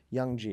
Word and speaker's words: Young G: know you recently starred in a film titled Young G is that how you pronounce it young yeah g Young G which